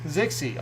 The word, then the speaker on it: Zixie: Rhymes with Dixie. Zixie.